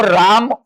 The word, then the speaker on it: राम: लेकिन अगर हमको राम उच्चारण करना हुआ तो क्या हम इसको र आ म आ ऐसा बोलेंगे क्या? नहीं, हम बोलेंगे रा और बोलेंगे म।